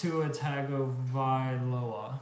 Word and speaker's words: Tua Tagovailoa: But it's Tuatagavailoa. Yes, it is. Thank you. It's actually spelled like it's pronounced, believe it or not.